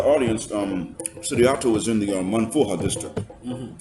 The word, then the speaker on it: Manfuha: To the audience, Saryato is in the Manfuha District. Did I pronounce that correctly? Yes, yes. Alhamdulillah.